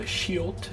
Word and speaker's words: 시옷: Next we have the 시옷 sound, which is like an S.